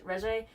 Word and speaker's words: Regé: Regé.